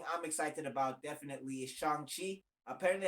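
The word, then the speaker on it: Shang-Chi: excited about definitely is shanghi apparently i've been saying it wrong forever it's it's it's i used to say shang chi a lot it's a chongqing yeah that's that's what i'm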